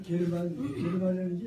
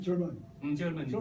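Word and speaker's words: German: 뭐 게르만인지 사실은 그 활자체를 보면은 게르만으로 읽혀지지만 실제로 영어를 발음하시고 말하면 절만 독일은 말이야.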